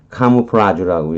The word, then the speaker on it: camouflage: 근데 뭐 군사용어로 카무플라주라고 얘기해요. 불어 발음을 그대로 적으면 카무플라주 이렇게 되겠죠.